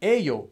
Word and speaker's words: 예요: But I would actually recommend, if you know this rule, it's supposed to be written as 예요, but pronounced as 에요, and you're talking casually with acquaintance, just write it as 에요.